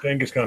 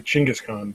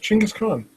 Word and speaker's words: Chinggis Khan: And I mispronounced Genghis Khan. It's actually Chinggis Khan, but whatever. Really? Yeah, it's actually pronounced Chinggis Khan.